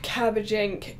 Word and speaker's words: Cabbage Inc: that is cabbage Inc cabbage Inc cabbage ink and it it's it's spelled like ionc it's not ink made